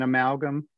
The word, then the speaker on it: amalgam: unusual in the spelling And the first syllable is the letter A, but it's not pronounced as A or A, it's a schwa. So we can mark that as a schwa. We're gonna have to memorize that the first syllable in amalgam doesn't sound like A or A, it's a schwa sound, so we're gonna remember